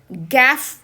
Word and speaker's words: gaffe: ஃப் அப்படின்னு சொல்றோம் இல்லையா அதே மாதிரிதான் இந்த f நம்ம இஃப் அப்படின்னு சொல்லணும் அப்ப ஜி ஏ fe இந்த வார்த்தையை நம்ம கேப் அப்படின்னு சொல்லுவோம் கேப் கேப் அப்படின்னா என்ன